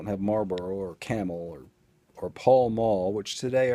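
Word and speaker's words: Pall Mall: or camel or or paul mall which today i heard someone in line say pale male p-a-l-m-a-l-r-p yeah google it that's how you spell it it does it's not pale it's paul way off topic but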